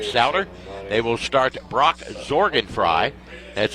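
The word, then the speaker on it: Sorgenfrei: firste coach Brent ster they will start Brock zorgan fry that's spelled s o r GN F REI but pronounced zorgan fry 6 foot senior at 150 averaging 14 points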